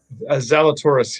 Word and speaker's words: Zalatoris: Am I pronouncing that correct? Zalatoris, yeah.